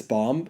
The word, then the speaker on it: bomb: have to diffuse this bomb so the person wearing are you pronouncing the B and bomb bomb don't pronounce the b please wait bomb bomb b